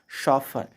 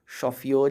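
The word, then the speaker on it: chauffeur: इसका प्रोनाउंसिएशन होता है शॉफर, शॉफियोर या चौफियोर या चौफुर नहीं।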